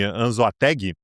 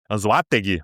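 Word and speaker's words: Anzoátegui: Foi Anzoateg, AnzoG, aliás, para para concertar a pronúncia aqui, que fica no leste do país.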